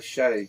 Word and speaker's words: Shay: Shay. Everybody gets that mispronounced. Yeah, Shay.